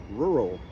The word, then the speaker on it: rural: Now, some people will divide this word after the second R. They will say rural. Well, that's really tough because you have that R-controlled vowel, the R, combined with the regular R. Then you have the dark L.